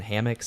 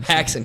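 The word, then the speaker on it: Haxan: filmmakers who created it what was it again hammocks I keep saying it wrong H hackson God damn it hackson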